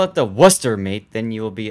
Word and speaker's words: Worcester: place called Worcester pronouncing Worcester in the UK got it Worcester Worcester I mean there's an r in the spelling of the word okay so we're all clear we all ignore the r but waster completely knows